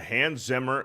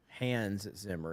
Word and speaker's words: Hans Zimmer: Hans Zimmer. It's Han Zimmer. No, I said Han Zimmer. You said Hans Zimmer.